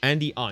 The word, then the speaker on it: Andy On: Andy On. Is that how you say his name? Andy On, just O-O-N.